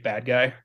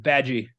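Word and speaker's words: Badguy: Ricky Gervais plays a character in that movie named Dominic Bad Guy. And he says, no, it's pronounced Badgie. It's French.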